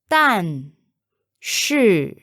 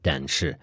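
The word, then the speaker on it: 但是: David the word for but in Mandarin is done shoe that shu is the same shoe that we used for is a or am since Mandarin has a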